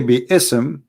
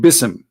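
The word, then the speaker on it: بسم: they recite the Quran they don't say be isem and it's written wrong no they they recited bism and I will tell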